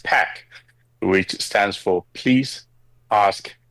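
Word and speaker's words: PAQ: Le let's start off with the name because we've been saying puck the whole time.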